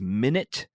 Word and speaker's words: Minit: Number 4 is Minute, which is spelled Minit, which is a game.